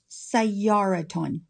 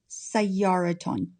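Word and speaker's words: سيارةٌ: Because it ends in ta marbuta, we have a ta sound at the end when we add nunation. So it's pronounced sayyaraton, sayyaraton.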